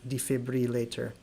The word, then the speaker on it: defibrillator: So in between there, the B-R-I goes to ruh, not brie, defibrillator.